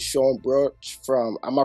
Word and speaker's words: Brauch: exclusive special guest and this time it's Sean brooch from am I pronouncing that right yeah Brock yeah you see that's the uh I'm just